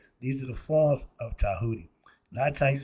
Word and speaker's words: Djehuti: The god Tahuti, and it's spelled with a D. The Chinese and the Americans made a deal. We swapped out the D sound for the T, and they swapped out their T sound for the D. So when we see a D, it's pronounced Ta.